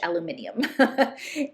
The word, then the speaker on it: aluminium: And it's the ore that is used to make aluminum, or as Sophie would say, because she's British, aluminium.